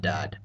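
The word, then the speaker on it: ض: letters we've learned before essentially these two letters are pronounced as S's and D's just as seen and dull were except these letters sound a bit dark darker or heavier the best way I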